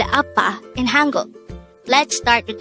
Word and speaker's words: 아빠: Appa. This is pronounced as a two-syllable word. The first syllable is a, second syllable is pa. Appa.